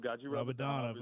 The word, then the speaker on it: Gadzhi Rabadanov: Gazdi, help me with the pronunciation. Gazdi Rabadanov versus Kevin Lee. Yeah, Rabadanov. Gadzhi Rabadanov.